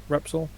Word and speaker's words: Repsol: in the um sounds i've gotta pronounce it wrong i'm just going to say wraps all colors um pretty sure that's how you say it no sounds repsol okay yeah a little bit